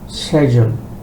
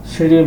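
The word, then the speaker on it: schedule: পরের শব্দ হচ্ছে সেজুল। আমাদের দেশে আমরা বলিশিডিউল। সবাই খুবই কমনশিডিউল। সেডিউল বলে কেউ বুঝবে না।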